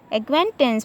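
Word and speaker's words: acquaintance: Example देखें, हाँ, तो देखें यू और क्यू के पहले क्या आया है, सी आया है, तो यहाँ पे सी साइलेंट रहेगा। एक्वेंटेंस पढ़ा जाएगा, एक्नॉलेज, तो यहाँ भी क्या है, सी जो होगा वो साइलेंट होगा।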